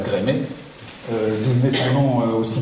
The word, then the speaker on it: Gremetz: me souviens l'année dernière à la télévision, un journaliste qui demandait à Maxime Gremetz, qu'on doit dire Grémet, d'où venait son nom aussi bizarre.